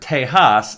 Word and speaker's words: Tejas: The word Tejas, spelled with the J pronounced H, is an old Native